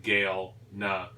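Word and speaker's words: Galena: goku gilner g-a-l-e-n-a galma probably actually i pronounced the game now like like the name gail nuh and mosaic soften the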